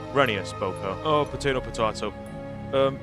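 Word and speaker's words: Rheneas: uh what about reneus it's pronounced reneus Boko oh potato potato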